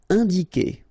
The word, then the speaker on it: indiquer: Indiquer, all right, keep in mind that when you get this Q and U after, and obviously a vowel, then U is not pronounced at all, okay, so it's que here, you don't pronounce the U, indiquer.